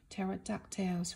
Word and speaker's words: pterodactyl: Wings and brains，那基本上每一个恐龙的歌词也都有押韵，比如像这边 "Pterodactyls flying high，watch them as they zoom on by